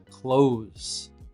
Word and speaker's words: clothes: This is the same pronunciation as close the door. It's a Z sound and there's a vibration in your throat. So repeat. I have some very stylish clothes.